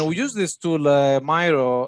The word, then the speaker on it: Miro: I'm not sure how you pronounce it. It's Miro.